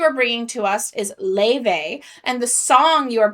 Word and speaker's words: Laufey: which we thank you so much for the pronunciation cuz we would have said Laufey or something like that. Laufey.